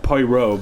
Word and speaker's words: Poirot: look it's spelled like it's it's not it's pronounced paurav Poirot but it's spelled like parrot-like pe roi T